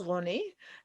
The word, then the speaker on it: Roni: Yeah, so my name is pronounced Roni, and I use they them pronouns.